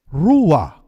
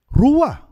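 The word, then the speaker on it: רוּחַ: ang salitang gamit ay rua rua kung inyo p i-pronounce ang salitang r mapapansin po ninyo na kailangang huminga ka bago mo ma pronounce ang salitang rua at alam niyo po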